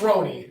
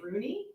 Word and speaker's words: Rone: It's Roney. It's Roney. Yes. I know. And how have you been saying it? Well, the first time I read it before I ever heard it, and so I said Rooney.